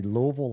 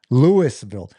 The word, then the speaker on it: Louisville: Starkville at number seven beat Louisville 36 to Did I say Louisville? Like college? That That's a That's a bad mistake. Rookie mistake. Lewisville. And the longer you can drag that out, the syllables, the better.